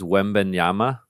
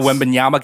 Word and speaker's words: Wembanyama: How do you pronounce this? Wembanyama.